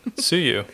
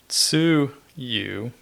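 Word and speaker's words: つゆ: So Tsuyu, if you have an emphasis on the su, the first part is like dipping sauce.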